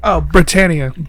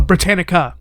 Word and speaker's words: Britannica: Britannia. Britannia. Wait, there's a C. Oh, Britannica. Britannica.